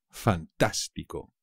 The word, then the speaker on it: fantástico: muy fácil también fantástico fantástico también es fácil pero no os olvidéis del acento en la segunda pico me parece fantástico